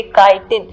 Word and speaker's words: chitin: C मैंने पहले भी बताया H साइलेंट होता है, तो इसे हम पढ़ेंगे chitin, पर H लिखना बहुत जरूरी है.